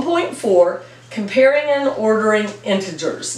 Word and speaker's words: integers: comparing and ordering integers now I say integers my sister says integers and I really thought it was kind of dumb I thought she was mispronouncing it and it was very embarrassing that my sister was saying integers when it's integers but then I found out it's an alternate pronunciation maybe it's British maybe she had a